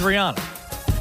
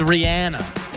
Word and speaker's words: Rihanna: case about mispronouncing Rihanna I've always thought it was Rihanna it's Rihanna like there's like an Anna in there did she tell him